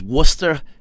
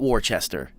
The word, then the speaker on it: Worcester: and i'm not making this up it is worcester massachusetts not warchester they will look at you like you're [